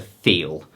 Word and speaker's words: Thiel: So this is, he was calling it a, well, he was pronouncing it differently, but it's a Thiel.